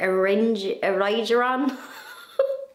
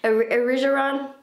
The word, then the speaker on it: Erigeron: And I want to plant some of those plants that, remember, I bought in last week's video, the Erigeron. That's not how you say it. Erigeron.